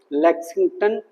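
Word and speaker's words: Lexington: battles of लेगिंटन एल ई एक्स आई एन जी टी ओ एन यह spelling है ले क्या बोलते हैं इसको लेक्सिंटन दूसरा है cone card and सी ओ एन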